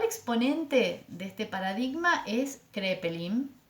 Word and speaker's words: Kraepelin: de este paradigma es crepé link kraepelin se escribe en alemán elabora un tratado con